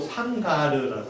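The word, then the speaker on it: שמגר: 왜냐하면 삼갈의 이름의 뜻은 히브리어 발음으로 샹가르라고 해요.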